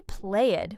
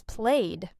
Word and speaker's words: played: We do not say played with two syllables. It is played. One syllable watched.